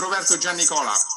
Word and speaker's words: Roberto Giannicola: Okay, so my name is Roberto Giannicola, and you have to roll your R's if you call my name.